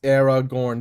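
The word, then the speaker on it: Aragorn: Uh, so yes, it is pronounced Era Gorn.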